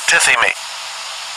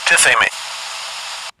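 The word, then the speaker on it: τίθημι: I want to get the Greek pronunciation. Strong's G 5087, Tithemi. Tithemi.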